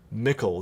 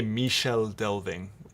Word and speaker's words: Michel Delving: how to say it, Mickle, there we go. Mickle Delving. I always want to say Michel Delving. It looks French to me, but no, it's just Mickle.